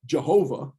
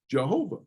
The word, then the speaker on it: Jehovah: that actually pronounced well what they did was they took the vowel sounds from the word that the jews pronounced which is the hebrew word for lord adonai and plug the vowel sounds into those consonants and you get jehovah but jehovah's not a hebrew word it's a made up